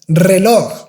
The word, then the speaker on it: reloj: I don't know if you notice, if you have a simple R in the beginning of the word, this word is pronounced with a strong R, like rápido, reloj.